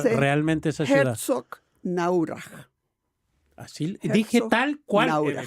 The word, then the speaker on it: Herzogenaurach: Ah, Adidas, ya, va a decir cómo se se pronuncia dice realmente esa ciudad. Herzogenaurach.